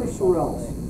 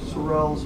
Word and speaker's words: Sorrells: Doesn't matter what kind of sword, but it's Japanese swords, but Walter Sorrells or Sorrells. You need his last name is spelled S-O-R-R-E-L-L-S. Buy the DVD set.